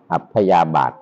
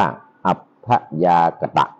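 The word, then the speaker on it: อัพยากตะ: ดี ไม่ ชั่ว เรียก อัพยา บาท วง เล็บ อ่าน ว่า อัพยา กตะ เอ้อ ไม่ ท่าน ได้ ดู เมื่อ กี้ นี้ อ พยาก กตะ ไม่ ใช่ อพยาบาท อพ ยากต อัพ ยากต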